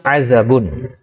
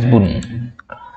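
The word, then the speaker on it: عزب: Tib nomor satu, hisyamun azabun . Azabun atau azabun, ya, azabun. Sebagian orang juga membacanya sebagai azabbun. Azabun.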